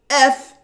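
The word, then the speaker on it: את: this action of Hallel, is indicated by this Hebrew word et, or eth in this case, because there's no dagesh in the tav. So we pronounce it with the th sound.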